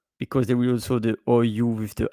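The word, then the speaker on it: houx: Laurier, ou. We don't we don't pronounce the H. So in English, you would say holly, but in French, ou.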